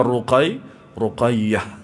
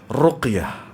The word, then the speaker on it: ruqyah: Ya, kalau kita nggak belajar, bisa saja kita membacanya ruqayyah. Gitu. Padahal yang sahih ruqyah. Gitu.